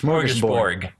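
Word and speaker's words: smörgåsbord: It's Smorgasbord. It's a D. I know, but it's pronounced like a G.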